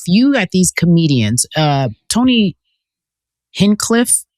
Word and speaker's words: Hinchcliffe: I feel like we are very polarized in this country and if you have these comedians Tony Hinchcliffe how do you say his name? Oh Hinchcliffe Hinchcliffe Hinchcliffe I remember him from the Trump rally.